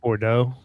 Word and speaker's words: Bordeaux: Bordeaux.